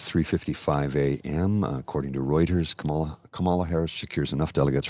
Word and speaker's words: Kamala: me about the pronunciation it's Kama like comma Kamala so somebody was mention